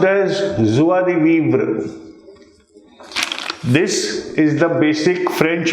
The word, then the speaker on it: joie de vivre: This is pronounced as joie de vivre.